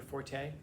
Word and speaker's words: forte: of a um your forte like the thing that you're an expert in? That's my forte. It's not pronounced forte. It's pronounced fort. It's not a French word. It's an English word.